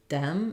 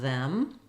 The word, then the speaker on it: them: here would be that if it stops it's going to sound more like a d like Dem instead of them or breed instead of breathe uh I do have